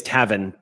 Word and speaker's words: Tavin: is the man yeah um his name is tavin t-a-v-i-n yeah i put it down as owen anyway so you described tavin as wiry and she is actually wiry as